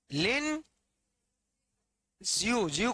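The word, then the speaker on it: Lin Zexu: commissioner नाम याद है लिन ू ज को जड ई एक्स यू लिखते हैं लिन जू जड साइलेंट है चीन के आय लि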